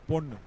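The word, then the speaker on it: பொன்: Of course, in Tamil, girl is called Pen, and the gold is called Pon. Yeah, that's a slight differentiation, but you'll have to be very careful in pronouncing those words.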